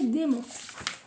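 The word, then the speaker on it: dæmon: Alors, ils disent le mot démon, qui apparaît tout au long du livre, se prononce comme le mot français démon.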